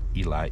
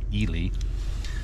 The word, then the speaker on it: Ely: italy nevada and yes i pronounced it wrong in a previous video not eli ely we're traveling from ely